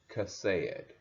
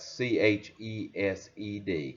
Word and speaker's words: chesed: But Ruth, Naomi, and Boaz all demonstrate Chesed, faithful loyalty. Chesed is the Hebrew word. You would spell that C-H-E-S-E-D, Chesed, which is faithful loyalty.